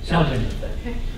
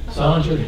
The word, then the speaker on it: Saldinger: Saldinger. Okay. Does anybody make a mistake and say Pierre Salinger? Yes. I almost did.